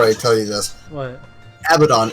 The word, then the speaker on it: Abaddon: one now our cat abaddon the noibat and macho man the heart abaddon